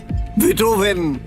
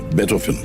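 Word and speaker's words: Beethoven: হাইডন, মজাদ, বেটফেন। এই হল আসল উচ্চারণ।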